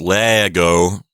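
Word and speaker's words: lēgō: the difference is that the one from the first conjugation has a long e so it's Lego with a long e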